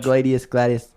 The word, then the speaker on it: gladius: Am I pronouncing that right? Yeah, pretty much. Gladius.